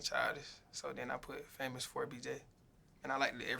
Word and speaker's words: FAMOUS4BJ: It's famous with a number 4, BJ. Yeah, FAMOUS4BJ.